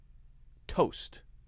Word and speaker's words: toast: Toast. T-O-A-S-T. Often if we have two vowels side by side that are different, then we will use the long vowel sound of the first one, okay?